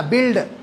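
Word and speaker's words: build: ये you silent है यहाँ पे भाई। एक इमारत है तो क्या बोलते हैं? बिल्डिंग बोलते हैं, बिल्डिंग बोलते हैं आप। बिल्डिंग तो कभी नहीं बोलते ना, तो इसको अक्सर हमारे तलबा क्या बोलते हैं? इसको बिल्ड बोलते हैं। इट्स नॉट बिल्ड, इट्स बिल्ड, इट्स बिल्ड। यू is completely silent.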